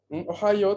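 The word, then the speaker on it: おはよう: Ohio tiene 4 sílabas. O, la vocal O se considera, digamos, se divide como una sílaba. O, ja, la sílaba ja, la sílaba yo y la U final, que se lee O, larga igual, se considera también una sílaba.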